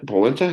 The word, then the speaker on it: polenta: Polenta?